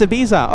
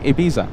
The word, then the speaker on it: Ibiza: Oh, it's Ibiza. Okay, hey, Mark. Thanks so much for clarifying. Ibiza.